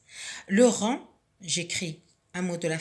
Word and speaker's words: rang: Le rang, j'entoure la lettre G qui ne se prononce pas.